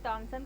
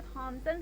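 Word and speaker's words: Thomson: तो जे थॉमसन कहिए आप या जे टॉमसन कहिए, वैसे थॉमसन सही प्रोनाउंसिएशन है हिंदी में, लेकिन कहीं कहीं टॉमसन भी लिखा रहता है।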